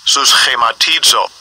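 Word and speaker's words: συσχηματίζω: The pronunciation. Strong's G 4964. Sus chematizo.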